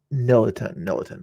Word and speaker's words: Nelan: Nelan is how you pronounce his name.